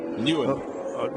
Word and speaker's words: Nguyen: Because NG is just new. Yeah, but it's done. It's sort of very nasal.